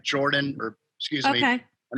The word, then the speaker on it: Jordan: So it's like Jordan, or excuse me. Okay. I know you're talking to Bill. I better pronounce it correctly in the South. It's Jordan.